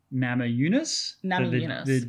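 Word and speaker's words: Namajunas: Also, I was reminded that the pronunciation is Nama Yunus. The J, so Rose Nama, I was saying Rose Nama Yunus because I just read the words phonetically. But in Lithuanian, the J is silent. J is silent, yeah. So thanks for that. Or J is Y.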